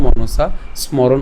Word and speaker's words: মনসা স্মরণ: এই যে দন্তাস যেটা আছে এ দন্তাসটা পূর্বের দন্তাসের সাথে উচ্চারণটা করে ফেলতে পারেন।